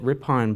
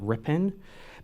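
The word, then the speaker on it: Ripon: I I called it rip on but I got corrected a while ago by a member of Congress that I should pronounce it rippen because it's our IPO a.m.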